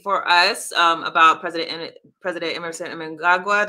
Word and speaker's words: Mnangagwa: You had an update for us about President Emerson Mnangagwa. Do I say his name right? Mnangagwa, you were close. Mnangagwa, I always say.